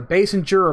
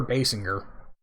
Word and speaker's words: Basinger: never pronounce that name it's not a base and juror Basinger Oh marks there you